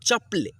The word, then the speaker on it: चप्पल: अन्ना, चप्पल, चप्पल, चप्पल ऐसे पढ़ेंगे तो गलती हो जाएगा। ठीक है, चप्पल। पक्षी, पक्षी, देखिए यहाँ पे